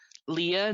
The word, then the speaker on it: Leia: liked checking to see who was pronouncing it Leah not Leia we discovered pretty much just the British actors yeah and and then